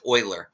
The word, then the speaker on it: Euler: do it in this video actually but it's pronounced Oiler the famous it's the sites named after the